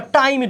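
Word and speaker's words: timid: ভিতুকে আমরা বলেছি টিমিট টিমিট বা টাইমিট উচ্চারণ করতে পার টাইমিট অথবা টিমিট ওকে তাহলে এটার এটা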